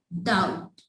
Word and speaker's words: doubt: It's like doubt. Clear? So these are a few silent letters.